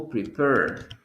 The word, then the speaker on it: prepare: Another example, prepare. Prepare, you don't pronounce the letter E. You don't say prepare. You're saying prepare. The last sound is R.